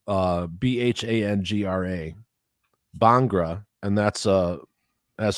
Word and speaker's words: Bhangra: is called it's spelled d-h-o-l so I'm gonna pronounce it doll and the dance form is called uh b-h-a-n-g-r-a Bhangra and that's uh has to do with